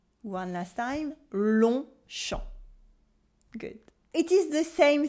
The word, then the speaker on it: Longchamp: The G and the P is silent in each of those words. And when the words are mashed together to form a noun, we keep their pronunciation.